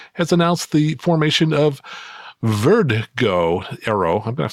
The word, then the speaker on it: Verd-Go: announced the formation of Verd-Go Aero. I'm going to have to spell that for you. It's V-E-R-D, which is French for the color green, Go, G-O. So Verd-Go Aero, an innovative new